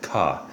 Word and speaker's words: CAH: You pronounce it ka.